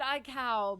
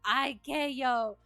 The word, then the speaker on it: ICAO: You pronounce it iCow, but you don't think it matters. Okay. But iCow is fun to say, I guess. iCow. What? Everyone in the U.S. says IKO.